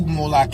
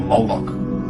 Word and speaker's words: Molech: The MLK is focalized as Moolik or Moolok in the Maseretic texts which is an authoritative text in rabbitic Judaism. It's from this pronunciation that we get the contemporary name Moolok.